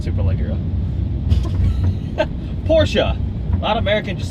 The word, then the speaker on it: Porsche: but it's not Porsche it doesn't rhyme with porch no it's definitely not